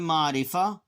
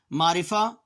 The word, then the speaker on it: معرفہ: اسم نکرہ۔ پروننسیشن دیکھ لیجئے اور اس کا تلفظ دیکھیے میں کیسے ادا کر رہا ہوں۔ اسم معرفہ، اسم نکرہ، کاف کے نیچے زیر آ جائے گی۔ معرفہ، دیکھیں اب یہاں پر ہم نے دونوں کے